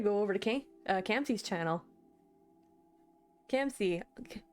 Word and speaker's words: Camsy: Camsy, pronounced Camsy.